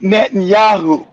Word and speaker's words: Netanyahu: Be nice if you can pronounce his name. It's Net and Yahoo.